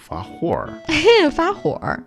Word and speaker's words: 发火: 发火. Okay. That's again a northern people 儿化音 kind of thing. You roll your R's.